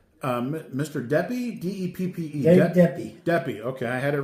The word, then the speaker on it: Deppe: And I don't know how to pronounce his name. Mr. Deppe? D-E-P-P-E. Dave Deppe.